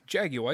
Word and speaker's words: Jaguar: Jaguar. It's not Jaguar. It's Jaguar, if you're going to pronounce it right. But I'm an American, so I say Jaguar.